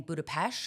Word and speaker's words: Budapest: But work was kind of wild this week because I went to Budapest for work. I've never been. Everybody said I'd come back saying Budapest because that's how you say it apparently, but